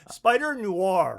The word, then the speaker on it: Spider-Noir: Spider-Noir. Noir. I don't know that I've ever said it right. It's not an old R, it's a new R. Oh, Noir. Mhm. Spider-Noir.